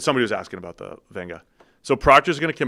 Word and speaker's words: Venga: So, yes, his name's Venga. You take the V-E-G-A, that's his nickname, and then that's how you pronounce V-E-G-A with an N, just like Tua Tunga Vailoa. You had the N in there.